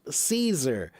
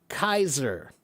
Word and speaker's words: Caesar: The word is supposed to be pronounced Kaiser. And that should make a lot more sense because in German they have the word for king and that word is Kaiser.